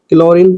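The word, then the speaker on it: chlorine: Rule है जी आपका जब किसी वर्ड के शुरू में सी एच के बाद सीएच के बाद में एल आई तो सीएच का उच्चारण का होता है। क्या होता है? का होता है। वो किस प्रकार से होता है? सीए के बाद आपको एल दिख रहा है। तो क्लोरीन का क्लोरीन हो जाता है।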